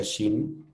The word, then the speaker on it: Shein: marca de ropa que se llama shein es una marca se pronuncia Shin que es una marca